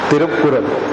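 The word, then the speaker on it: திருக்குறள்: तिरुक्कुरल पूरा प्रोनाउंसिएशन उसका TH वाला IKKURL, तिरुक्कुरल है, तिरुक्कुरल।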